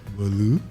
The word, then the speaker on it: Bolu: Bolu. It's just two syllables.